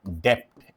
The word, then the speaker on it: debt: economy लिखी हुई है इसको बोलते डेट है लेकिन इसमें बी साइलेंट होता है डेप्ट ऐसे होता है ये इकोनमी तो